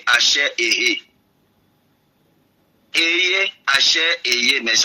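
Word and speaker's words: אֲשֶׁר: Il va le dire, je suis celui qui suis, en d'autres termes, Ehe, Hacher, Ehe.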